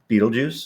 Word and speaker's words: Betelgeuse: Betelgeuse. Well, I don't know how to pronounce it. It's spelled weirdly, but it's pronounced the same. Beetlejuice?